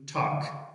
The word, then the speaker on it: talk: talk خبرې کول.